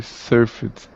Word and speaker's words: surfed: the past tense i surfed yeah and the pronunciation is a little bit different it sounds like served served thank you good job